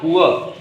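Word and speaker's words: poor: है, आई एम नॉट पुअर तो कह देंगे, तो बेचारा भी कह देंगे। और आप ये भी जानते हैं, प्रोनाउंसिएशन करेंगे तो आर का उच्चारण र के रूप में नहीं होगा, है ना, उसको हम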